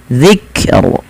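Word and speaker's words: الذكر: Wal qurani zzikr. Zikr ya zikr. Nah ini jangan sampai kita memantulkan huruf kaf ya teman-teman.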